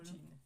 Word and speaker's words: Eugene: Eugene, s'il te plaît. Ouais, bah dans ce cas-là, je l'écrirais Y-U-J-N. J-I-N, pardon. Mais non. Eugene. Mais non, c'est Eugène prononcé à la japonaise, mais tu m'excuseras, ça s'écrit Eugène.